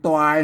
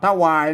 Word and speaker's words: ตวาย: หา หมอ มา ตวาย เนี่ย มัน ตวาย นะ ไม่ ใช่ ถวาย นะ ไม่ ใช่ ถวาย